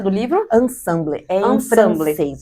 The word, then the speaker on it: Ensemble: Como que é a pronúncia do livro? Ensemble, em francês, é juntas.